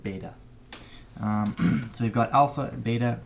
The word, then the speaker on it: beta: might also use beta I think some people pronounce it Vita I call it beta so we've got alpha